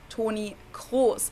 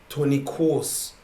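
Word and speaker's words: Toni Kroos: in german it's o tony cross and then of course there's german r wait your r sounds like a w tony course yeah the is like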